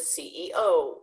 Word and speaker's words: CEO: MBA IT director u-dub so for this you want to make sure that you pronounce each of those letters separately and you're going to hold the last letter a little bit longer so listen like this